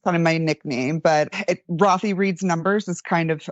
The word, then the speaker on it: Rothy: Our Benton guy was saying Rothy. That's okay. Yeah, he has sometimes, he's British. What can you do? Yeah, doesn't pronounce so good. Yeah. Yeah, it's Rothy. It's short for Rothblatt.